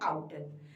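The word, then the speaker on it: Router: बिल्कुल, इसमें आर जो होता है वो हमारा साइलेंट होता है, इसे हम कहते हैं आउटर।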